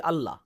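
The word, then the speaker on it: الله: আলিফ এর পর লাম আসলে তার উপর তাশদিদ দেয়া হলে উচ্চারণ হবে আল্লাহ হালকা উচ্চারণে। কিন্তু আল্লাহ যখন বলি এর উচ্চারণ কেমন হয়? আল্লাহ আমরা ভারী উচ্চারণ করি।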